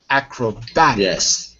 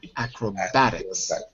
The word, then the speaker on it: acrobatics: oh okay so it's acrobatics yeah but the pronunciation is a little different acrobatics with a bat acrobatics good good good let's